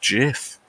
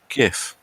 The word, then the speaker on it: GIF: Wilhite who invented the things he insists it's pronounced jiff so there you go although the Oxford English Dictionary has contradicted the creator and gone gif so you pays him and eaten takes you